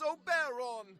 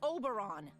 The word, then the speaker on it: Oberon: Now, I keep telling you, in this world, I am to be addressed as Oberon, the Fairy King. And I keep telling you, it's pronounced Oberon, you know? Like moron?